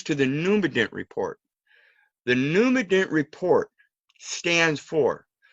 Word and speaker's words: Numident: Num, separate the words. We're going to get into some etymology here. The root words. Num phonetically is spelled graphically N-U-M. So it could phonetically be N-U-M num or N-U-M num.